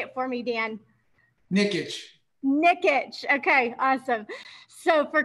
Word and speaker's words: Nikic: guide and for chris and i'm going to mispronounce his name so how about you say it for me dan nickitch nickitch okay awesome so for chris nickitt she